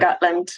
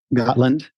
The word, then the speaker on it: Gotland: So, so you live on the island south of Stockholm, Gotland, right? Is that how you say it? Gotland. Yeah, Gotland.